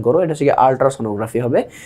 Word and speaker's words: আল্ট্রাসোনোগ্রাফি: আল্ট্রাসোনোগ্রাফিতে এটা হচ্ছে গিয়ে মানে অনেকে একটু ভুল উচ্চারণ করো, এটা হচ্ছে গিয়ে আল্ট্রাসোনোগ্রাফি হবে।